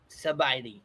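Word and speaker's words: ສະບາຍດີ: Sabaidi.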